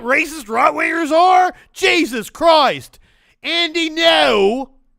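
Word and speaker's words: Andy Ngo: Andy, no. That's how you say his name.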